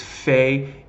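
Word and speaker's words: פ: like purple if it's if you see without the - its fake as in family right it's a similar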